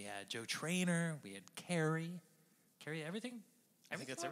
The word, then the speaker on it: Kerry: No, not Curry.